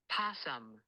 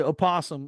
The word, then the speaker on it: opossum: So you can say opossum or you say possum and it's still spelled the same way.